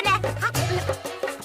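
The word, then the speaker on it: know: तो करनी ही चाहिए ना। Good idea. तो शुरू करते हैं मिशन एग्जाम्स। और इसीलिए नो में के होता है साइलेंट।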